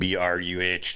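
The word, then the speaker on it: Irn-Bru: It's like the most disgusting thing ever, and it's called Iron Brew, and BRUH.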